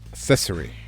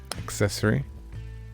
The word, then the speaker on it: accessory: since there's an adventure hard c soft sea says banana of monkey accessory wait hard c what's a hard c then is that a k it's a hard ck accessory accessory thanks paranormal monkey